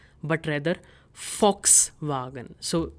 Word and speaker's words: Volkswagen: If you know this car company, this is German based, and the pronunciation is not Volkswagen, but rather Volkswagen.